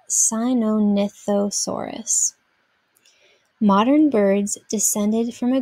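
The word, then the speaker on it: Sinornithosaurus: from the greek chinese bird lizard and is pronounced sinonithosaurus modern birds descended from a group of two-legged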